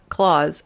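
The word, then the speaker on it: Klauss: She said, when my aunt remarried, her last name became Klaus, but extra S, but pronounced like Santa Claus. So her last name became Claus, and her first name is Candy.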